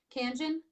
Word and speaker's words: Kangen: Am I pronouncing it correctly? Kangen?